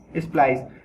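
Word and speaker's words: splice: इसको अगर हम देखेंगे इसका वर्ड क्या है, प्रोनाउंसिएशन स्प्लाइस।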